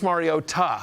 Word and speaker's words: Mariota: I was literally told by NBC brass to pronounce with a tuh. Somebody reached out and told us. And you're following instructions? Yeah. You don't do that on this show. No, whatever. This is a time where maybe you shouldn't have followed instructions. Marcus Mariota. We were told that it's important to put the pronunciation on the tuh.